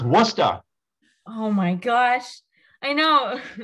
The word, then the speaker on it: Worcestershire: But I got it's Worcestershire. Right? No. No, Gary. Wait, how is it pronounced then? Oh my! It's pronounced Worcester.